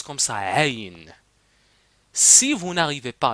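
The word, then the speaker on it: عين: Aïn, mais c'est pas Aïn, c'est pas Aïn, mais ça se prononce comme ça. Aïn.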